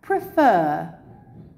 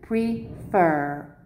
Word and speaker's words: prefer: So here, prefer. It finishes its two syllables. As you can see, I've separated it for you. Prefer. F-E-R, consonant, vowel, consonant. And the stress is on the end, not at the beginning.